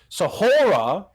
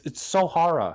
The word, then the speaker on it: Sohara: That you're free to like Sahora over here. At this point, I think he's doing it on purpose. It's so hard. It's Sohara. Seguda.